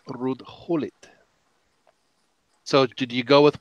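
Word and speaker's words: Ruud Gullit: gaal it's Louie van how and it's not rude Goulet it's rude Howlett so did you go with Wow how the Dutch pronounce it or do you do it you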